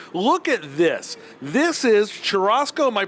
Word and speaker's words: churrasco: This is churrasco. Am I pronouncing that correctly?